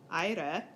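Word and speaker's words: αἶρε: So in our sample command aire, we get last syllable short. We only have 2 syllables, so we can't go to the antepenult. We have to go to the penult. The penult is long, so it gets a circumflex. Aire.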